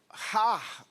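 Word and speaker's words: הר: A questão do monte, há uma palavra no hebraico que é har, ou, vou voltar har, mas se escreve H-A-R.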